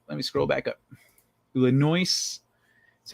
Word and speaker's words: Illinois: You don't pronounce the S. He left after I pronounced the S in Illinois.